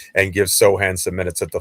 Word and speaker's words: Sochan: And not because I don't like Sochan.